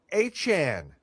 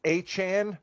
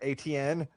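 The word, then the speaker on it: Etienne: Jimmy, can you say Travis Achan? Are you ready to pronounce his name that way all year long and not ATN the way that we did when he was a Jacksonville Jaguar?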